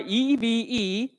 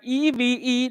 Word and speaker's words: EVE: company presentations we are eve please pronounce like e v e not eve where group companies for